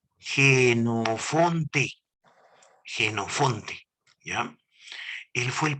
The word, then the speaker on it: Jenofonte: utilizar esta palabrita fue este señor vamos a pronunciarlo jenofonte jenofonte ya él fue el primero y como